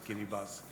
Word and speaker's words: Kiribati: the South Pacific there is a nation called Kyra bus with a specialist Kiribati but it's pronounced as Guinea bus they have actually abandoned some of the islands